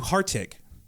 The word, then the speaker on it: Hartig: Andrew Hartig. Is that how I pronounce it? Yes, it is.